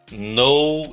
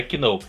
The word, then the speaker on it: know: Know é o verbo saber. Não pronuncie o K, tá? É know, não é que know. É know.